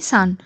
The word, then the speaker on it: son: সন, child, mail child নাকি সান। সঠিক উত্তর হয়ে যাবে অপশন এ সন। অ্যাকচুয়ালি সন উচ্চারণটা অনেকটা সান বলা হয়, তার জন্য এখানে দুটো অপশান দিয়েছে সন আর সান।